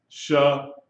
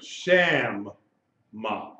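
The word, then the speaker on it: שַׁמָּה: That's the wrong way. The right way is sham because you double that letter mem. Sham-ma. Shema. Shema. You sound out that M at the end of the syllable and you pronounce that M at the beginning of the next syllable.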